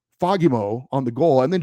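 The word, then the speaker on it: Fagemo: back that it's pronounced fogimo um with the emphasis on the second syllable fogimo I floated back and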